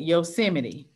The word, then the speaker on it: Yosemite: good job you are the only student that pronounced Yosemite correctly foreign I've heard everything but you are correct Yosemite okay um this word scientist I'll write it